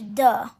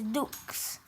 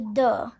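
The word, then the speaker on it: deux: and it's spelt u n and two is duh this is how you spell it d e u x but remember in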